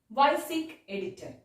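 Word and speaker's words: WYSIWYG: We can pronounce like this, YSIG editor.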